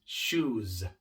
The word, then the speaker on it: shoes: Pero como la palabra termina en una vocal, entonces al agregar la S haciendo la palabra plural, tenemos que pronunciarla de forma sonora. Shoes. No es shoes, sino shoes.